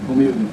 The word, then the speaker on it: Romildo: And then you, let's see if we can pronounce my name. Romildo. R-O-M-I-L-D-O.